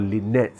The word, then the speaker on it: LINetS: then I realized that's exactly the way it's pronounced when God said there are many more Lynette's so it's not just lean it that one